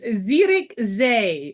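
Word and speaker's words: Zierikzee: an Excursion from compan oh Aron try to pronounce this one this is a good one right xery xerx Z it's Zer Z and Zer Z is the Excursion out of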